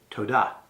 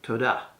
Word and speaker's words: toda: you which is simply toda now emphasize the second syllable in fact there's a good rule of thumb for all these rewards in Hebrew you normally would accent the second syllable so tada thank you another word